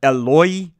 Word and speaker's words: Eloi: Mark's account apparently uses some Aramaic pronunciation here. Eloi, Eloi, lema sabachthani.